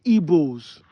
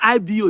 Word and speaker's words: Igbo: That IBO is your dialect. Direct pronunciation of Igbo. That's how I pronounce Igbo. Igbo. I know they pronounce an Igbo like IGBO. But I see some people come, I don't like the way, when I started, that's how they say, I don't like the way you're pronouncing it. You should pronounce it like Igbo.